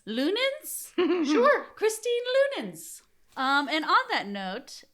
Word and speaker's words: Leunens: do you say your last name Lun lunin lunin sure Christine lunin um and on that note um yes